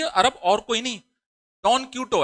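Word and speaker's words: Don Quixote: इसका प्रोनाउंसिएशन अलग है क्योंकि ये जो बुक जो थी ये दूसरी लैंग्वेज, बाद में इंग्लिश में लिखी गई थी। इसको हम जो ओरिजिनल लैंग्वेज में लिखी गई थी उसी के प्रोनाउंसिएशन को पढ़ते हैं।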